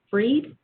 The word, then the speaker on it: Freed: turn first to and i'm not sure if it's pronounced free or fried but freed if would you like the opportunity to speak yes it's free thank you mr freed